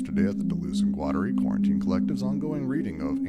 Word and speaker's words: Guattari: It's how I pronounce it, Guattari. Guattari is another one. But it's Guattari, I believe. Varun, you're the Guat. What? You're the Guat guy. How do you pronounce it? Qatari. Qatari. Guattari. Allah's in Qatari. Yeah, I'm not going to do that. So it's Guattari for me because I anglicize and